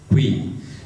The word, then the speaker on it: куин: Но вот вы слушайте, те, кто владеет удмуртским языком, собственное произношение куащ, куин. Это ведь не кв и не ку, а это что-то особенное.